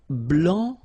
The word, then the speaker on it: blanc: here, okay, so here masculine, blanc, don't pronounce the final C, and then blanche, okay,